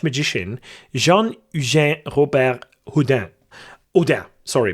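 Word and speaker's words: Robert-Houdin: inspired by the French magician Jean Jean Robert Huden Udam. Sorry because the H is not pronounced obviously, but I'm pretty sure that I butchered its name regardless.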